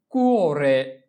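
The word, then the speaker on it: cuore: এরপরে হচ্ছে কুয়োরে, কুয়োরে, কুয়োরে।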